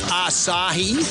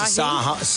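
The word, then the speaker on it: açaí: Have you tried that acai stuff? I said a beer, acai. No, that's acai acai. Acai. What are you talking It's spelled acai.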